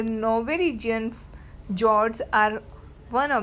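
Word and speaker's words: fjord: The Norwegian जॉर्ड्स आर वन ऑफ the world's top tourist attraction. वहाँ का जो Norwegian जॉर्ड है, ये एफ जो है वो साइलेंट होता है, उसको जॉर्ड बोला जाता है.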